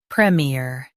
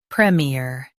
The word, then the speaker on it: premier: Premier. Both US and UK have the same pronunciation of this word. Premier. Now read the syllables shown on the screen naturally. Prem. Premier. Stress prem and keep ear light.